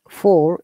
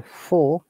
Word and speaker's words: four: 4 is American, 4 is British English. because R is replaced by the vowel sound. And British English is non-rhotic, which means that we do not pronounce R sound in many places.